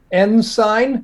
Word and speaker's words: Ensign: That's pronounced Ensign?